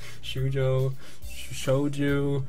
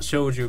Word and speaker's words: Shoujo: Shoujo. It's not Shouju because it's an O, so it's Shoujo, I guess.